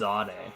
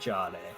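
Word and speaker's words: Jahdae: So apparently it's pronounced Zade, not Jade.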